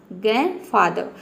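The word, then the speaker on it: grandfather: यह होता है ग्रैंडफादर ग्रैंडफादर इसमें आप लास्ट में जो ई आर है इसको आप साइलेंट रख सकते हैं आपका प्रोनंसिएशन करेक्ट होगा किसी भी वर्ड के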